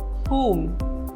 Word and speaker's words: whom: W is silent in some words. For example, whom, whose, whole.